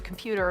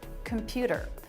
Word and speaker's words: computer: the telephone from the computer or whatever they did with him. Computer, computer. They're all saying that with a flap. Computer, a flap instead of t, a T sound.